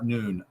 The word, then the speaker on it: nun: The letter N in Hebrew is precisely the same word as Egyptian nun, N-U-N or noon, N-U, meaning fish or prince.